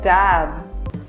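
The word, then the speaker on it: damn: N is usually not pronounced when it comes at the end of the word and after M. For example, autumn or dam.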